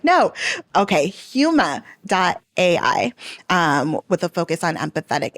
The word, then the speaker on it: Huma.ai: Huma, like mama, 2 M's. Huma.ai. Huma.ai. I should have gone with my gut because I almost did it. And then I was like, no. Okay. Huma.ai, with a focus on empathetic AI.